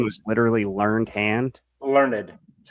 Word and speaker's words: Learned: Learned.